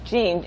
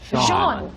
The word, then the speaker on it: Jean: His name is Gene, but it's spelled J-E-A-N, which to me should be Jean. Jean. Maybe a little French But they with call it.